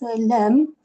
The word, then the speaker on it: ل: And then we said we pronounce lam. I mean, the tip of the tongue touches the roof of the dam.